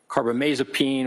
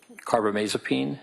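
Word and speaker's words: carbamazepine: I mean for example lithium or carbomasopene or valproic acid those are all mood stabilizers.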